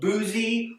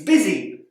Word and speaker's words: busy: we can see that the u does not make the sound we might expect instead it makes an i sound it's not boozy or buzzy it's busy word here the o